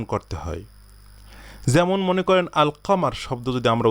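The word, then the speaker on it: القمر: হয় যেমন মনে করেন আলকামার শব্দ যদি আমরা উচ্চারণ করি তখন কি বলি আল কামারু এই লামটা আমরা উচ্চারণ করি এই যে এই লামটা আলিফ লামের লামটা উচ্চারণ করি এটা বলি না যে আক্কামারু বলি কি আলকামারু তো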